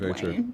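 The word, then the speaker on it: Dwyane: I call him Dwayne Wade because that's how he spells it, even though he pronounces it Dwayne, which was very disturbing to me.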